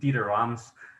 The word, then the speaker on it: Dieter Rams: And one of my favorite influences outside of music is the very famous designer, pardon my German pronunciation, Dieter Rams, of the company Braun, or Braun if you're American, Braun.